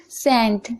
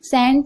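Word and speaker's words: scent: चलिए आगे बढ़ते हैं सेंट सेंट यहां पर आप देख रहे हैं एस के बाद सी है तो सी साइलेंट है ओके शेड्यूल यहां पर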